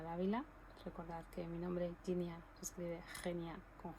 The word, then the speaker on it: Jenia: que estar haciendo, porque como el nombre se pronuncia de una forma y se escribe de otra, hay gente que me llama Genia directamente, pero el nombre se pronuncia Ginia.